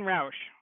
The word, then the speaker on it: Roush: Roush. I know that's not how it's spelled.